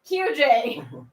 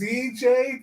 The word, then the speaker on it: CJ: not AJ yeah wait crap I got your name wrong QJ it's CJ thank you very much thank you for a